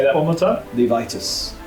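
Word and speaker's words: Levistus: Levitus. Levitus. Levit pronounce it.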